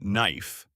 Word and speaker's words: knife: The word is knife. K N I F E. The K is silent. You say no. Knife.